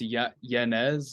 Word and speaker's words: Yanez: It's Yanez. Yanez. Yeah. Adrian Yanez. Sorry if we butchered that, but so I'm going upset here.